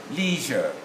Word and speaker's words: leisure: us leisure okay fine so the two agree in america it should be leisure but in the in british in the rp received pronunciation i is not to be pronounced you see and then